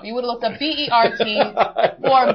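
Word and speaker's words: BIRT: ACTU, discussed the company's powerful open-source RAI development environment product BRT, pronounced BERT, uh, expected to generate $16 million in 2008 as downloads have increased threefold since 2006.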